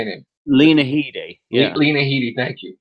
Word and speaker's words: Lena Headey: With Leah Headey? How's that? How you say it? Lena Headey.